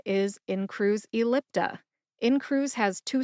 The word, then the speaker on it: Incruse Ellipta: both of those when I say them again in Cru ellipta what's my source on the brand name pronunciation it is the prescribing information for in